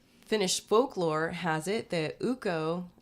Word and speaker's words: Ukko: Finnish folklore has it that Ukko, it's spelled U-K-K-O, so I'm assuming it's Ukko.